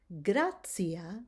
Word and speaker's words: gratia: Okay, so now when you have a T and it's followed by an I and either an A or an O, then you're going to pronounce it as ts, ts, as in the words gratia or pontio or annunciamus. Do you hear that I'm giving it the ts sound?